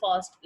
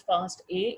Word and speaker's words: FASTA: Be very careful, it is pronounced as फास्ट ए। इसको फास्टा नहीं पढ़ते। अब मोस्टली जो है वो ये रूटीन फास्टा पढ़ जाते हैं, बट लेकिन ये जो इसका सही प्रोनाउंसिएशन है दैट इज़ फास्ट ए।